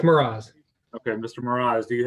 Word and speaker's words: Mroz: How do you pronounce that? You did very well. It's Miraz.